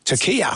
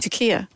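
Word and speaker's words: Türkiye: You don't actually pronounce it Turkey. I think it's just the way it's spelled. Turkiya. Turkiya.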